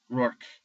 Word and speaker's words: Rourke: Rourke. 2 syllables. Like, Rourke. Rourke. Rhymes with fork.